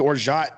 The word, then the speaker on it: orgeat: Orgeat, an almond, or some pronounce it orgeat, or some even say orgeat. But just say orgeat.